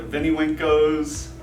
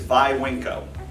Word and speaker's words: Viwinco: be in the business always people pronounce oh my gosh then wink oh the Vinnie winco's then COEs winco's there's so many different ways the proper way is by wink oh and once you explain